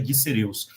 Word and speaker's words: Diceraeus: o Dicereus furcatus, né, o pessoal confunde muito essa pronúncia, né, Diceraeus, mas é do latim, a gente fica Dicereus.